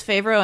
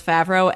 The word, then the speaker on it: Favreau: It's some of my family says Favreau and some says Favreau, and I am fine with either.